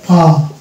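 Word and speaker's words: palm: অর্থাৎ তিনটি আছে এ এম এম, তাহলে এখানেও উচ্চারণ করবো আম, তাহলে এটা হয়ে যাবে পাম, ইয়ে প যুক্ত আম পাম।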